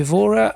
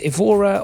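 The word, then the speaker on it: Évora: cargo over towards um what's in English would be aora I believe in Portuguese uh it's correct pronunciation with the accents and everything although it looks like there are yes so it's ivora or in in Portuguese correct me if anybody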